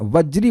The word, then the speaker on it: वजरी: दिक्कत है तो ब्रजी ये ब्रजी नहीं होना वजरी बोलना चाहिए ना वजरी ब्रजी लिख